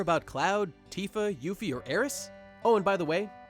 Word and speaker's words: Aeris: In Japanese, Aeris' name is written Earisu, or Earisu. See that character there? That's the Su kana. And when you pronounce this character in Japanese, there's a tendency to drop the U sound at the end, in this case giving Aeris.